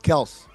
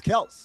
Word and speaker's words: Kelce: Yeah, it's pronounced Kelse. I've never heard that before. Greg, you can ask Travis. You can ask their father. It's Kelse.